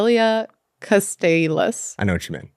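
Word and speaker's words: iliocostalis: Iliacastasis. Muscle. No, Iliacastalis.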